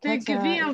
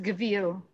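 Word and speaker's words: gevil: idea about that yeah it's pronounced gavil okay thank you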